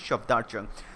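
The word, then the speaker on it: Safdar Jung: Shafdar Jung, actually not Shafat or Shafdar Jung. Proper pronunciation is Shafdar Jung.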